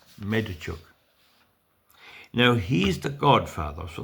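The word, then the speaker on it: Medvedchuk: M E D V E D C H U K Medachuk.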